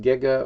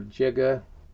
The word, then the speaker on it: giga: the capital g pronounced giga or jiga either pronunciation is okay depending on where you are in the world but that means times